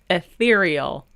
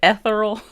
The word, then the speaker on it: ethereal: i can't pronounce words ethereal that's the word i called it ethereal like ethanol ethereal is the adjective